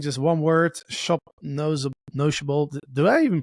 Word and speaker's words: Noshable: no no nothing just one word shop NOS notable do I even pronounce it correctly by the way you're good it's it's notable so nsh is like a Yiddish slang term